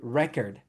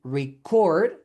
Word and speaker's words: record: For example, we have record and record. In record, the verb, the stress is in the second syllable. And in record, the noun, the stress is in the first syllable.